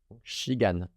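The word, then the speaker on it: 시간: Donc c'est pas si, c'est chi. Puis dans la dernière syllabe, un K ou un G. Ici, je sais que c'est un G, un A, puis un N. Donc gan, shigan.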